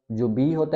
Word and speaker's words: Ha: एच को हम पढ़ते हैं हा, हा।